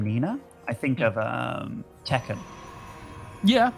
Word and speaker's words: Nina: Nina.